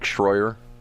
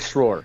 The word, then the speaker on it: Schroer: Nick Schroyer? I already got his name again. the mispronounced state senator, yes. What's his name again? Nick Schroer. Schroer, okay. There's no I in Schroer.